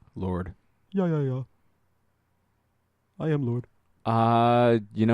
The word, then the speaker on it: Lorde: music and lyrics by Lorde. Lorde? I like pronouncing her name Lorde because there's a fucking E at the end.